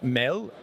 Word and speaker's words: MAD: into this organization uh Mel as it's pronounced in Danish means food but also in English